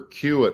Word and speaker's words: CUAET: residents in Canada for qit holders that's the way I pronounce this this acronym that the uh Canadian government came up with we'll get into